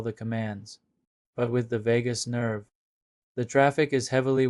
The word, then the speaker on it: vagus: The definition Andrew teus nerve pronounced vagus is the longest and most critical cranial nerve in your body.